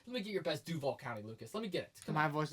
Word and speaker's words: Duval County: Let me get your best Duval County, Lucas. Let me get it. My voice would crack like crazy right now. Okay, I'll do it for you. Duval County.